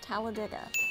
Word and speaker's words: Talladega: You pronounce it Dega if you are saying the race, but it's Talladega according to everyone that lives there.